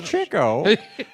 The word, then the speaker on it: Chico: my world he was working it yeah it's pronounced Chico that's crazy Chico many started the chick-fil-a a restaurant that's a